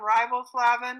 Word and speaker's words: riboflavin: Vitamin B's are thiamine, niacin, and riboflavin, or flavin, it's pronounced both ways.